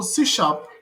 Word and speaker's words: C#: So C# is pronounced as C- then sharp which is developed by Microsoft and is a part of um net framework.